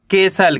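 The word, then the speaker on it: castle: सी ए एस टी एल ई इसे पढ़ेंगे केसल क्या पढ़ेंगे केसल यहां पे टी साइलेंट है कैसे पढ़ेंगे केसल आ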